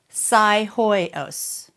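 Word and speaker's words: Psihoyos: It's spelled this way, Miles. P-S-I That's your first clue. Hoyos. Psy-hoyos. Okay? Psi, that was easy. Even if you go, oh, psi, no, no, no, no, no, no, no.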